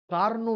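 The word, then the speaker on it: Carnot: তবুও কথাটা বলে দিই কার্নো ইঞ্জিনের কথা কার্নো ইঞ্জিন ইংরেজি কি নাম সি এ আর এ টি কার নট কিন্তু টি এর উচ্চারণ হয় না কার্নো সাইকেল কার্নোচক্র বিজ্ঞানী কার্নো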